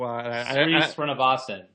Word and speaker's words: Srinivasan: Everyone thought, and I can't pronounce his last name, so Srinivasan.